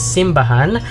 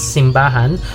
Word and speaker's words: simbahan: central and southern philippines simbahan accented on the final syllable was chosen for this book title a conscious move away from the manila way of naming things which accents simbahan on the middle syllable the word itself developed